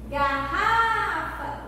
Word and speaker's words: garrafa: Garrafa, o Rá.